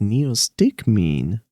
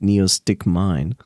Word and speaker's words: Neostigmine: Suddenly excited Neo me Ah that's how it's pronounced Neo stick mean I pronounced it Neo stick mine NE Neo what did